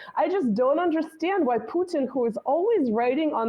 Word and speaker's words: Putin: which pronunciation of like in Russian we say Putin right we actually emphasize the U but we also say